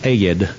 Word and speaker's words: Ed: His name is Ed, but he's a Southerner, so when he picks the phone up, it's Ed, and it's 2 syllables.